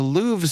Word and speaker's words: Louvre: Well, documents now reveal that the Louves surveillance server once required a password.